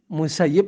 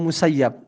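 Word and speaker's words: المسيب: Siwa Abi Sa'idi, kecuali Sa'id ibn Musayyib atau Musayyab. Itu punya faliwajhaini, hawa. Dia bisa dibaca dua, bisa dibaca musayyib, bisa dibaca musayyab ya.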